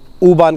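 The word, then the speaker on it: U-Bahn: पहले हम देखते हैं उ बान का साइन सिंबल और वह कैसी दिखती है सो य जो आप यू का साइन देख रहे हैं यह यहां पर इसको प्रोनाउंस करते हैं उ सो हम उ बन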